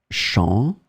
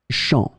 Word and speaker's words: champ: In this lesson, we will see two words that are written differently but pronounced the same way. Champ, champ.